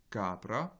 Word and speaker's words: capra: Et capra, pareil, un accent sur la première syllabe.